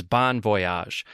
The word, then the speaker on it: bon voyage: start by saying that the accepted pronunciation in American English from the Oxford dictionary is Bon Voyage the phonetic symbol for the vowel in Bon being the same for words like bottle or bomb or box to all my French